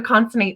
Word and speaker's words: Consonate: beautiful so if you would please I mean pronounce the word and tell me what it means so conate is the name of my business it took